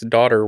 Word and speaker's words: daughter: Yeah, if you're a Southerner that makes daughter one syllable. That is right. We do that. We're like, my daughter over there, just one syllable, just daughter. Yeah. Just the sound. Not even. We don't even try with I think daughter. It's just like DR, like daughter.